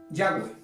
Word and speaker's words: Yahweh: por estos 2000 años, hay una discusión de cómo se pronuncia. Pero lo voy a hacer como una manera simplemente de que entienda que la palabra Jehová en otro idioma, en hebreo, entonces es Yahweh.